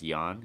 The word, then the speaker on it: Jorn: some people call him Jorn Jensen it's Jo RN but he told me that it's actually pronounced young and so young Jensen